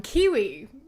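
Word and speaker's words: Qiwa: So if you want to hear a few of my thoughts about it, go check that out on Kiwi. Spelled with a Q. Q-I-W-A.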